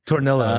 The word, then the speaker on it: Tornillo: Tornillo, yeah.